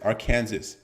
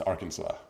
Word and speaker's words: Arkansas: a lot of reading so look at this AR Kansas is Aransas AK a r k a an